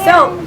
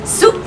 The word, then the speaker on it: soup: Casi como soap, pero soap es jabón. No es soap. ¿Qué es? Soup. Digan soup.